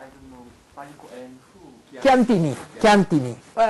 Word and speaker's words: Chiantini: This is Italian. Chiantini. If you only look at this, this is a very famous wine. Chianti. Yeah. Yes. And then you put some more syllable and you get Chiantini.